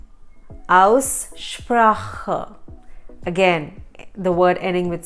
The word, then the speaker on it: Aussprache: Also, pronunciation in German is Aussprache. Aussprache.